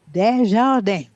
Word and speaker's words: Danjourel: Danjourel. You see, you have to say it in French.